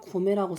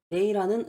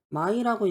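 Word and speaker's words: 米: 그래서 쌀미자. 쌀이라는 의미로 고매라고 씁니다. 이건 고매. 그리고 메이라는 음가가 있습니다. 메이라고 쓰는 경우에는 메이고크. 미국이라는 의미. 그리고 바크 마이라고 읽힌 경우도 있어요. 방금은 메이라고 읽었죠? 혹은 마이라고도 읽혀가지고 바크마이, 백미, 흰쌀밥을 말하는 거죠.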